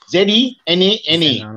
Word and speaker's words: zenana: It's called, the word is zenana. Z-E-N-A-N-A, pronounced zenana in English.